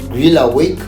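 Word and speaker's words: Greale Wake: yet to go so my name is um Grill awake on all platforms G awake on Facebook G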